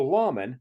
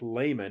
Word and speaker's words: lamen: Well, a lamen, not to be confused with nor pronounced like layman in the Book of Mormon, is a sacred image